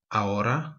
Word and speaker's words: ahora: Now is ahora, soft H.